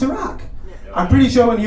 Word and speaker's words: Iraq: to say iraq there's no such thing as eric it's pronounced iraq i'm pretty sure when he was like we're